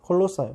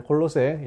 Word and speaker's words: 콜로새: 콜로새 지역 은 콜로새 , 콜로사 , 콜로새 등 으로 발음 되는데 , 콜로새 라고 발음 하는 것 이 일반 적 입니다 .